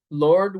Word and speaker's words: Lorde: So Lord was you pronounce it Lord, right? Is it Yes, the okay? E is silent.